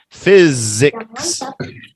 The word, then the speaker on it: physics: weren't listening I said look at the phonics here it's very very simple pH is an F Fizz and then that Z you go right from The Zed to the x physics physics Benicia yeah what